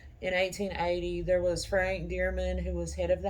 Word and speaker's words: Deerman: so i'm assuming that the name was still pronounced dearman back then as well excuse me